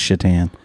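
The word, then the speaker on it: Šatan: goalie one of my favorites chatan it's not Satan Mom it's shitan that's those can I get a can I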